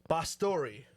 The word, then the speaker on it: Bastori: I'm sorry, I don't want to pronounce this wrong, but I believe it's George Bastori. Boss story. Bastori. Yes.